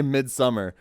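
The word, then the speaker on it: Midsommar: actress if you watch mid mid Samar bro or summer it's spelled someone you know they literally say mid summer I just always pronounce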